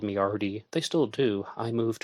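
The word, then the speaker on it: Ardie: Arty come from Bernard it's spelled a r d i e kind of like the end at of Bernard huh yeah definitely okay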